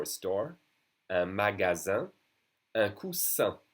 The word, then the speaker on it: coussin: Un coussin. Double S will be pronounced like a solid S. Un coussin, a cushion.